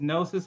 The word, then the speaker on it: GNOSYS: Yeah, so my name's Gnosis on Twitch. It's spelled GN0SYS.